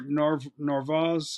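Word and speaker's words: Narváez: had Carlos Correa but they didn't uh Omar narvaz that's how you say his name the catcher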